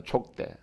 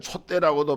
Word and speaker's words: 촉대: 한자 성경에 보면 이 촛대가 아니고 촉대입니다. 촉대. 이렇게 기름으로 이렇게 등을 만들어서 불을 켜는 것을 등촉대라 그러잖아요. 우리 한글 번역에는 촛대라고도 발음하고 촛대로 말하는 분이 있는데, 사실 그 성서에서 쓰는 것은 초를 가지고 하는 게 아니에요. 그 촛대라고 하면 안 됩니다. 촉대라고 해요.